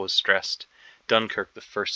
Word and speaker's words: Dunkirk: about this where the which syllable is stressed platoon the second syllable is stressed Dunkirk the first syllable is